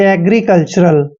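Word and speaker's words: agricultural: agree कल अब देखि जहां भी टी य आर अगर इकट्ठा आता है इसका आपने टर नहीं पढ़ना है चर पढ़ते हैं चर ठीक है ए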